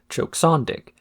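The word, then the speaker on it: Choksondik: specifically met the condition that her name be pronounced as Choke Sandic to make it sound like it was Eastern European or something.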